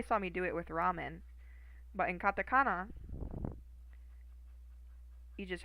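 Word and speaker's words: ラーメン: So this means that it's a long A sound.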